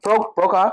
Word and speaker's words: PRocon: PRocon, thank you, sir.